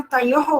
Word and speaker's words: तयोः: बस थोड़ा सा उच्चारण में तयोः बोलो, विसर्ग भी बोलो साथ में, तो जब अच्छा, आप तयोः।